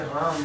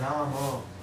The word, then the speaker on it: Rama: Ram, when you say Ram, it is only half. Half in Sanskrit. Say Rama, Hare Rama, Hare Rama, Rama. Ramo may become the name of Lakshmi or the Lord Shakti. So the exact pronunciation is Rama, Hare Rama, Hare Rama,